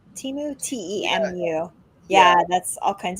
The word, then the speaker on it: Temu: especially that it's how do you say it Teemu temu t-e-m-u yeah that's all kinds of cheap stuff